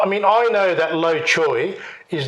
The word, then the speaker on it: Low Choy: My grandfather, if I try to pronounce it, it's Low Choy. Low Choy. 姓 Right? 刘 Lao. 姓 Lao. 刘 Right? All right. So, and Joy, you probably should have spelt it Joy rather than Choy.